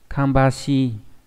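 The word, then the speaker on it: 芳し: Phương này đọc là kambashi.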